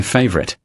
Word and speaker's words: favorite: Favorite is my favorite. Read favorite. The accent must fall on the first syllable.